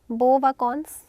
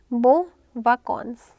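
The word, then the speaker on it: bonnes vacances: Please make sure this word BON वी आर not pronouncing it बोन, अलग से न नहीं है. Like when we write this word so there is नो न, separate न नहीं है यहाँ पे, there is just a nasal sound बोन, नाक से आवाज़ आएगी बो.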